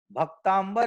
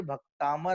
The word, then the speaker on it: भक्तामर: लेकिन आज भी लोग इसको प्रोनाउंसिएशन में भक्तांबर ही बोल रहे हैं, भक्तांबर ही लिख रहे हैं। तो इस बात पे हमें ध्यान देना है कि भाई साहब ये भक्तामर है, भक्तांबर नहीं है।